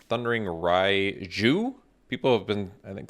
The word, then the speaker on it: Raiju: draft all right thundering rai zhu people have been i think some commenters said i'm not saying it correctly the j is not silent it's not like spanish or whatever sorry i did not